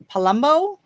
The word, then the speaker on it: Palumbo: And your last name is Palumbo? Yes, Palumbo. Rhymes with Columbo.